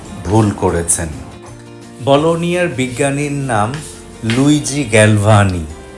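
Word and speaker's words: Luigi: বলোনিয়ার বিজ্ঞানীর নাম লুইজি Galvani. আমি ছোটবেলায় ধরতেই পারতাম না নামটা কি লুইজি না লুইগি। জি এর পরে যখন ই এবং আই বসে তখন উচ্চারণটা হবে বর্গীয় জ।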